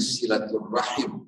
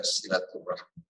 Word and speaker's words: silaturahim: hidup kita orang bertanya kenapa Ustaz kok membacanya silaturahim bukan silaturahm padahal asalnya adalah silaturahm dalam bahasa Arab kalau kita berhenti ya kita tidak berhenti dengan membaca satu kalimat yang diakhiri harakat jadi silaturahmi kalau kita